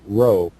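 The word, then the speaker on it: rho: me in Greek it uh represents the letter row as in row row row your boat mind it is pronounced with a rolling sound much like the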